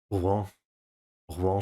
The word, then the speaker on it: Rouen: Okay, his pronunciation is good sometimes, but the pronunciation of Rouen is like it has the word roux, which is like whale in it. Huh? Rouen.